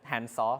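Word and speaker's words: DiskANN: uh discan graph uh I asked one of my friends how to pronounce this word and he said handsaw so I'm going to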